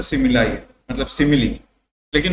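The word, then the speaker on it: simile: उस figure of speech को हम लोग सिमिली बोलते हैं। ठीक है? और इसको स माय ली मत पढ़ लेना। ठीक है? या कुछ भी मत पढ़ना। सिमिली ही बोलते हैं।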